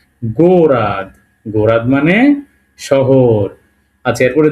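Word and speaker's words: город: ও এর ওদে গেও গো আর ও দে গোরাদ লাস্টের এই এটার উচ্চারণ হবে এর মত তাহলে এটা আমরা বলব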